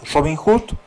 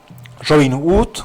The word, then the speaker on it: Robin Wood: hombre de de en realidad de nombre irlandés, Robin Hood, ¿no? W. Robin Wood, como se pronuncia, o sea, es la palabra W o D.